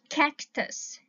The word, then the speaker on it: cactus: Các bạn thấy này, cái chữ cơ này á các bạn phát âm mạnh á, nhưng mà cái chữ cơ này á các bạn phát âm nhẹ lại ha, cũng là phát âm nhưng mà nghe nhẹ trong cái từ này á, bởi vì nó không có đứng đầu từ á các bạn, không